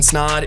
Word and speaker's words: Snod: what's going on everybody my name is snod it rhymes with OD and you're listening to